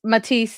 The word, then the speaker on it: Matisse: Henry Martis Matise is how the Americans say it and how I I learned to say it.